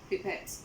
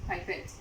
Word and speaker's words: pipette: Williams-Massey, and today we will be talking about the volumetric pipette. If you're watching the American videos, you will hear them pronounce it pipette, but in Jamaica we call them pipette.